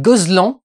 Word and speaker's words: Gozlan: idéal film réalisé par Yann Gozlan je pense que ça se prononce comme ça et pas Gozlan mais parce que ça sonne un peu breton mais mais je je pense que ça se pr comme ça avec Pierre